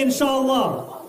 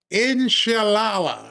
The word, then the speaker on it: Inshallah: And I've said these words in the way that many of us will say, inshallah.